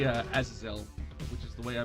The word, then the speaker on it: Azazel: saying i try my best to say uh azazel which is the way i believe it's supposed to be pronounced um i know i've heard other people pronounce it as a zazzle scapular is a real good start uh nah